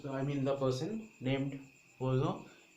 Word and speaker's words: Poisson: Okay, so this equation is actually our equation of Poisson's, or there was, I mean, the person named Poisson. Actually, the pronunciation is Poisson.